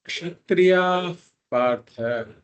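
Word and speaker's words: क्षत्रियाः पार्थ: So the preferable pronunciation is kshatriya partha. Kshatriya partha. It's called upatmaniyaha, where the visarga becomes a f sound before a pakara.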